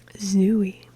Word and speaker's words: Zooey: Zooey. No, not Zoe. I'm not just mispronouncing Zoe, and I've said Zoe before. The name is Zooey.